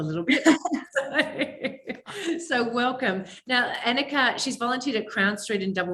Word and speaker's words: Annika: Now, it's Annika. Is that the right pronunciation?